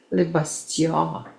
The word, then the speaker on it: Le Bastion: Le Bastion. And that's how you say it.